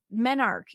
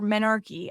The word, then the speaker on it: menarche: Your menarche, your menarche, I've seen it pronounced both ways.